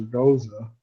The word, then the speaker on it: Gose: there was such a debate of how to pronounce it, and it turns out both beers do. It's Goes or Goza.